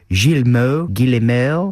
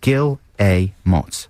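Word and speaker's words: Guillemots: Some people say Gilmo Gill. I say Gilamott just to say yes. Gilmo. And that's trains to Brazil. Gilot. Gileots. Yeah, it says underneath pronounced Gil Amos.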